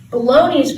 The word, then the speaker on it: bologna: minutes to begin with weird spellings bologna's felt so weird it looks like bologna why the g also the word also